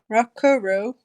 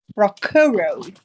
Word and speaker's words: Rakuro: thought his name was Rakuro. Rakuro. I'll make note of that. Rakuro. The first few syllables of rock around the clock.